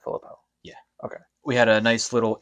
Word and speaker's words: Philippou: So that's how you pronounce it, Philippou.